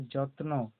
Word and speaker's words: যত্ন: তারপর অন্তস্থ জ, তয়ে দন্তন্য, এটা হবে যত্ন। তয়ের উচ্চারণ হবে, দন্তন্নয়েরও উচ্চারণ হবে। তাহলে অন্তস্থ জ, তয়ে দন্তন্য, যত্ন।